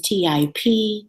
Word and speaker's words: Tip: It is T-I-P, Tip.